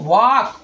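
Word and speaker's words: walk: लेकिन जो दूसरा वाला है ना वो वाक वो आपका सही है। तो यहां एल जो है ना एल आपका क्या हो गया? एल आपका साइलेंट हो जा रहा है।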